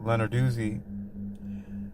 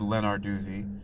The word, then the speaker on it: Lenarduzzi: Leonard Duzi, you know, I always thought I heard her pronounce it once I think and I think she said Leonardi or But to me, I thought that Italian would be lenardy. The two Z's together make the dootsy dootsy sound.